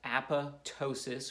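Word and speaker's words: apoptosis: cell death called Apatow sious is greek it's pronounced app' ptosis falling apart is what it means results in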